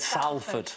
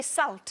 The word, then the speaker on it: Salford: He said Salford. Well, it's spelled S-A-L-F-O-R-D. Spelled that way, but it's said. Did you say salt? Salford. No, salt. Salt. There you go.